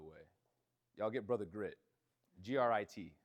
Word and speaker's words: Grit: G R I T. I don't pronounce my T's. Grit.